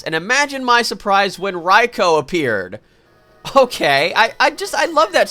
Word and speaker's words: Raikou: that people, you know, other people do say Raikou, and I think that's because of Raichu. So, yeah, it's actually Raikou.